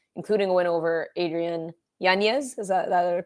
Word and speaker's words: Yanez: nice winning streak, including a win over Adrian Yanez. Is that a correct way to say it? Yanez, yeah.